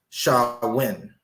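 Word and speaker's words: Samhain: festivals of Sam WI a a gelic word pronounced sha win or Sam Hayne is pronounced shawin a pagan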